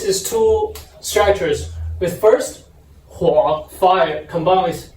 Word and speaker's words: 火: In Chinese, it pronounced 火.